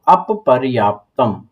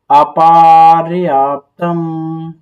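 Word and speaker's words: अपर्याप्तम्: तो इसको आप पढ़ेंगे तो अपर्याप्तम, अप प्लस पर्याप्तम, अपर्याप्तम, लेकिन इसमें पा प्लस पा को कह रहा है बड़ा पा पढ़ो, तो हम इसको पा और पा को बड़ा पा पढ़ेंगे।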